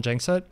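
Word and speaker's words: Gjengset: around the world so i usually go by jankset which is really just ignore the g's in the surname that works pretty well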